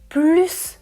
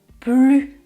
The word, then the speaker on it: plus: Oui, je peux prononcer « il veut plus de chocolat » en prononçant le S et je peux aussi dire « il veut plus de chocolat » sans prononcer le S.